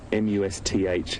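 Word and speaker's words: musth: Allowing us to be this close to him, and particularly being a bull in must, in that M-U-S-T-H as it's spelt, and it's pronounced with the T-H, must.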